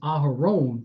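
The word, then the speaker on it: אהרן: a hebrew name and his hebrew name is aharon pronounced but it means the exalted one the one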